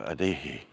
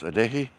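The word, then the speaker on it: Adeje: we go to costa adeji for those you're not sure how to pronounce adeki the j is a is an h cinematic so this barranco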